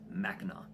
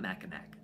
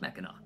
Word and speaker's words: Mackinac: like I look stupid it doesn't matter how you spell it it's always pronounced Mackinac so it's not macamac it's Mackinac I said it wrong